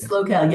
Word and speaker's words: SLO CAL: for visit SLO CAL is that how you pronounce it SLO CAL or Visit SLO CAL yeah so SLO CAL is San Luis Obispo